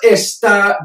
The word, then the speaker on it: está: Él está bien. He is well. You know, it is well. El árbol está creciendo. The tree is growing. It is growing. Está with the accent on the A.